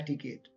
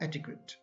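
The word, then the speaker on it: etiquette: का होता है ना, तो उसे बोलने में वो कहते हैं एटिकेट। तो एग्जैक्ट वर्ड क्या है? एटिक्वेट, ETIQUETT, एटिक्वेट।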